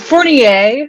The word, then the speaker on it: Fournier: Camille, I even forgot to ask you, even when we were talking before, it's Fournier, right? Am I pronouncing it? Fournier, actually. Okay. That's the A is the only French part we've retained, but Fournier, yes.